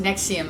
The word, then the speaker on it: NXIVM: I'm nexium pronounced nexium it's spelled weird but it's pronounced nexium like the heartburn medication and it turns out